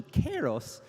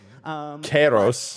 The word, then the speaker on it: Kairos: the Greek heritage that this is actually pronounced closer to Kairos. Kairos. But we're using the ancient Greek pronunciation, which is closer to Kairos.